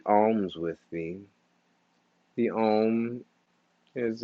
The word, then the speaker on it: Om: you to do 3 Oms with me. The Om is a base of the Sanskrit language. Om has 3 syllables, A, U, M, and there's a fourth, which is the silence at the end.